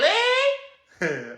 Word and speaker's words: Lei: Uh, but Lee, every time I hear your name, I think of that, even though it's spelled like Lei.